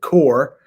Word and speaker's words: Corps: I know it has a P there, but we pronounce it Corps, National Guard, Air Force, and the Coast Guard, who sacrificed their lives to defend America's freedom.